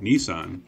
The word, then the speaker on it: Nissan: of an automaker with a name that is pronounced differently depending on where you're from you've been hearing me call it nissan which is the only way i've ever heard